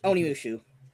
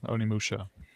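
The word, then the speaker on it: Onimusha: And Oni Mushu. I I think I pronounced that right. Oni Musha.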